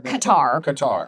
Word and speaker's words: Qatar: We also have someone from um that was a host in the cutter games. So the LA in the the last World Cupar Qatar I may be saying that wrong.